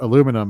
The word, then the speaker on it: aluminum: We were talking about the word aluminum, how we pronounce it in the States and how it is pronounced aluminium. Yeah. They give it a whole other syllable, right?